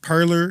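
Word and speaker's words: Parler: I believe it's called It's pronounced Perler oh yeah it's a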